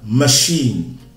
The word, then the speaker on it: machine: Dans le mot machine, CH est prononcé CH comme en français. On dira donc machine. Machine.